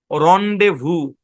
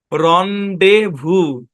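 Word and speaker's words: rendezvous: হচ্ছে ডেজ হ্যাঁ আচ্ছা দেখেন এই জেড টা হচ্ছে সাইলেন্ট জেড টা কি সাইলেন্ট এই শব্দের উচ্চারণ হচ্ছে রন্ডেভু এখানে এস টাও সাইলেন্ট শব্দের উচ্চারণ কি রন্ডেভু বুঝছেন অর্থ কি মানে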